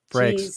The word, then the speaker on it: Frakes: Frakes, f r a k e s.